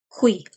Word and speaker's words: qui: And of course, aquí is pronounced like the U doesn't exist, but in Italian you say it qui.